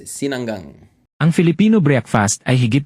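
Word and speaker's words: sinangag: how to pronounce cang Sinang Sinang it sounds like sinigang you know but it's Sinang ang Filipino breakfast ay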